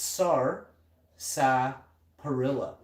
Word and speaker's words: sarsaparilla: sarsaparilla in this you we don't even pronounce sarsaparilla right it's sar perilla sars it's sars sarsa perilla sarsaparilla i hope they spelt it wrong isn't it sarsaparilla is the r silent oh i have so